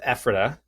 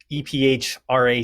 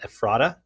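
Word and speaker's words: Ephrata: uh a town in South Central Pennsylvania that's pronounced Epha. Um EP h a ta. And the running joke here is anybody that's not from here will call it Ephrada.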